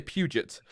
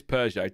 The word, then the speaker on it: Peugeot: I call it Peugeot, or I say Puget, but it is Peugeot.